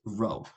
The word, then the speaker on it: rho: is called this is the greek letter rho i pronounced row so when i say